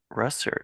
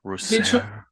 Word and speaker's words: Russertt: how are you good you actually pronounced my last name correctly for some reason people have trouble with it oh really yeah they try to um kind of Franky like Rous yeah it's either French